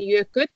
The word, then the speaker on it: Jökull: Means mountains in plural, and Jökull. Oh yeah, that's good because that's such a difficult pronunciation in the end.